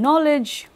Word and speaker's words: knowledge: such examples or as in knowledge the K is not pronounced there so the number of